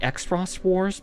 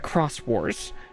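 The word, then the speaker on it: Xros Wars: of uh the uh we might call it the x-frost wars but it's supposed to be pronounced the cross Wars um and that was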